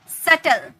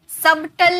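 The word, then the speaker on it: subtle: decline okay सटल सबटल नहीं बोलते हैं एस बी जो है साइलेंट होता है सबटल नहीं बोलते हैं सल यहां पर जो बी है ना ये साइलेंट है इसका कोई मतलब ही नहीं है सेटल डाउट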